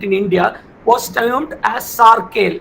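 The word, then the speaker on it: Sarkhel: fleet in India was termed as sarel I'll spell it sa a r k h e l which naval fleet I'll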